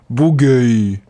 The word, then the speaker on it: Bourgueil: Bourgueil.